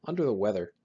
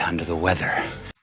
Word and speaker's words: under the weather: I can see you're feeling somewhat under the weather. When you pronounce this idiom, make sure you stress the correct syllables. Stress un and we.